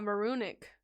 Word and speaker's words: Maroonic: Moronic sounds fine. It's based on maroon. Ah, Maroonic.